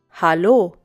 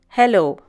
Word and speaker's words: Hallo: Notice the difference in pronunciation. It's Hallo and not Hello.